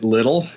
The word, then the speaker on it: Lidl: So in the U.S., they opened Trader Joe's first, but now they're starting to open both Aldi's and Lidl's in certain markets. Is it spelled like the English word little, or is it some other spelling that I'm not?